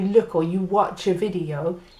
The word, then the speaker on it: video: The letter V often gets a B sound in Espanol.